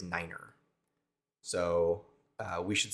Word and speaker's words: niner: One of the ones that, the most common one that you might hear is niner.